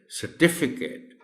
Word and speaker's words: certificate: जैसे word सर्टिफिकेट है तो सर्टिफिकेट में अगर आप C पर स्ट्रेस देंगे तो गलत हो जाएगा. इट इज नॉट सर्टिफिकेट, इट इज certificate. The stress is on T.